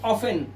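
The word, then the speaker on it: often: ऐसे ही ऑफेन। ऑफेन में हमारा टी साइलेंट होता है।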